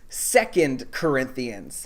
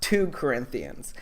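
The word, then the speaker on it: 2 Corinthians: to church would know it's pronounced second corinthians not two corinthians but what do i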